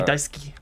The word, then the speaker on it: Daisuke: do not care Daisuke I think it's like Suki like how you spell it is s-u-k-i but I think you say Daisuke like like I love you or those that like